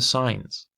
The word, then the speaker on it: sign: you go into sin that's why the g is silent it is sin and